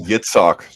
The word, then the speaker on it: Yitzhak: It's actually Yitzhak, just so you know. It's Hebrew. It's pronounced Yitzhak. I know it has an I in English, but that's not actually the pronunciation.